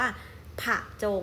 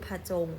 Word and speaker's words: ผจง: เรา เห็น นะ คะ ผจง ดัง นั้น เวลา ออก เสียง เรา ก็ จะ ไม่ ได้ ออก เสียง อะ แบบ เต็ม เรา ก็ จะ ไม่ ได้ ออก ว่า ผะ จง อย่าง เงี้ย ไม่ ใช่ นะ คะ เรา จะ ออก เพียง กึ่ง 1 เสียง ก็ คือ พจง นะ คะ ผอบ ฉงน